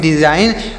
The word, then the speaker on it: design: यहाँ पर DE से डी, SI से जाई और GN से न, यहाँ पर G साइलेंट है, इसको नहीं पढ़ेंगे, तो इसे पढ़ेंगे डिज़ाइन।